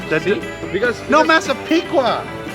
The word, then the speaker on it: Massapequa: Because No, Massapequa.